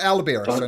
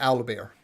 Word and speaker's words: alaba: a bug bear ah sorry alaba not like the aloe bear oh thank goodness because